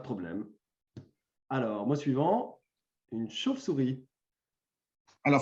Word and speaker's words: chauve-souris: Alors, mot suivant, une chauve-souris. Alors, il faut préciser que c'est comme ça que tout le monde le prononce. On a l'impression de dire un V, en vérité, on dit un F.